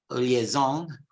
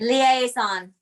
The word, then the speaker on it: liaison: But in British English, it's liaison. Okay, slightly different pronunciation, liaison. And I think that in American English, you make it longer, liaison. British English, liaison.